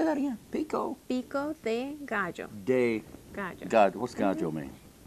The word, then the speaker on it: pico de gallo: So this, the pico de gallo, is that how you say it?